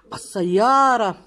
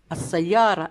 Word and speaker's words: السيارة: السيارة لأذهب فيها إلى الغابة. السيارة اللام تكتب ولا تقرأ.